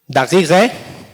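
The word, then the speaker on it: دقیقه: Daqiqe, this is a final H. Normally it's an H, but here it is pronounced as E. If it's at the end, if this letter H is at the end in Persian, it represents the sound E.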